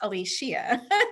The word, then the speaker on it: Alishia: from my dad that he meant for my name to be pronounced Alishia. So every time someone would say that from the time I was a child until I can remember, I would always correct them and say, no, it's Alishia.